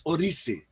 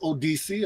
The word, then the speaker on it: Odissi: And the pronunciation really is it's almost like a mixture between a D and a R. It's Odissi. But Odissi. you can say Odissi, but it's really supposed to be that Odissi.